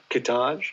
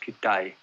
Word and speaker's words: Kitaj: Kitaj. No, it's pronounced Kitai.